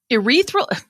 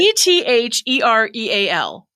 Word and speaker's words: ethereal: what word is it e-t-h-e-r-e-a-l wait e t h ethereal ethereal ethereal so not urethra urethra not your reading not your urethra not your urinary tract